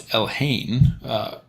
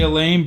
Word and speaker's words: Elhain: First of all, it's Elhain. Ash loves to say Elaine, but I think he purposefully mispronounces names to get comments and drive interaction.